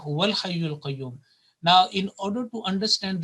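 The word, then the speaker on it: هو الحي القيوم: to the lam, because if you say Allahu la ilaha illa huwa al hayyul qayyum, according to the rules of tilawat and rules of recitation, it will be incorrect, and the right pronunciation will be Allahu la ilaha illa huwal hayyul qayyum.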